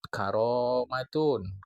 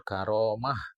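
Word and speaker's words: كرامة: Kalau karomat itu cara pengucapan Iran. Kalau karomah cara pengucapan Arab. Jadi kalau kita wakofkan dia karomat, itu cara pengucapan Iran, garis miring Persia. Tapi kalau karomah, itu cara pengucapan Arab. Karomat Iran, garis miring Persia, karomah Arab.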